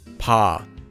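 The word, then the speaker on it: ㅂ: And it's not a hard B sound like in the word ball. It's between P and B and is a bit softer.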